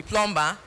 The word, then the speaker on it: plumber: Where be say one man where I meet, he say in be plumber or plumber. So they say na plumber by B, but na plumber by pronunciation normally.